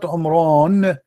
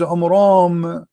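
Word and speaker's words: Amram: First of all, the father of Moses, his name is not Umran. His name is Umram, according to the, you know, so he got the name wrong.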